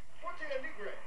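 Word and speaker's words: Porto Alegre: Forte Alegre, Brazil. Been around Brazilians for years, and I still have a terrible time pronouncing Brazilian names. Just remember, H for the R sounds like an H.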